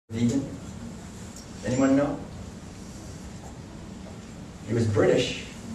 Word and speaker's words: vegan: the the word so he created the word vegan and he wanted it pronounced that way that's why you can't say vegan or V people say because Donald said so she said it's vegan and he said veganism